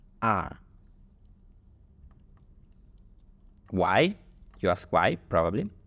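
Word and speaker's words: 二: need to be pronounced notice that the last two is not pronounced leang when there is another two right here is not pronounced leang but R why you ask why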